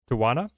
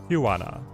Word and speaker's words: Tijuana: Tawana? Tawana. People saying Debris? I don't think Debris helps. He's gonna play Zola right here. Tijuana.